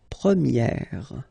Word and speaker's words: première: And then the sound will change quite much, because if you think about the masculine form, you pronounce it premier, okay? Premier. And then for the feminine form, you will get première, okay? So it's open, this e sound.